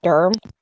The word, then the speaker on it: Durham: they spell it URM because that's how locals say it erm dirty dirt say it